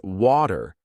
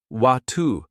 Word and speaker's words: water: key differences for example in British English the word water is often said as watu while in American English it's pronounced wat this is one example